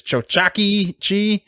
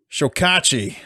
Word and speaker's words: Chokachi: Chokachi? Chokachi.